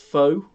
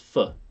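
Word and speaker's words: phở: It's of course pho, and it's not pronounced pho. It's pronounced pho.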